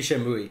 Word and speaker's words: Shenmue: Actually, it should be Shenmue. Shenmue because of the Japanese, yeah.